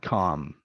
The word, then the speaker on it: calm: Then we have folk and have, would, could, should, shock, palm, salmon, and calm. No calm, no salmon, no palm, no pam. Chalk, salmon, calm, with a silent L.